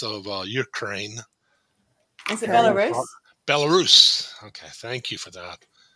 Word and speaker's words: Belarus: I see that name all the time and I never pronounce it, and I know where it's at, even north of Ukraine. Is it Belarus? Belarus.